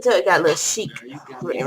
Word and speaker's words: Shiekh: So, 1 pair of shoes came from this store called Chic. It came in the bag like this. Yeah, Chic is spelled SHIEKH.